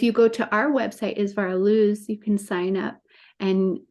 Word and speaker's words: Isvara Luz: It's spelled ISVARALUZ.